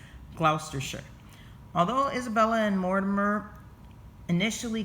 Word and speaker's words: Gloucestershire: murdered at Berkeley castle and clout is it's pronounced Gloucestershire so you see it looks like it says Wow caster Shire but it's Gloucestershire although Isabella and Mortimer initially governed Edward the